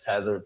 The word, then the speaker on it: Tazaryach: Tzar I used to be like Tzar Ariak Tzar Ariak to I was I used to have I had to say that a bunch of times. So, I don't expect everybody to just know how to say the name cuz it's not an easy name. So, some people would say the latter part of my name, they'll say Yak, Y A C H.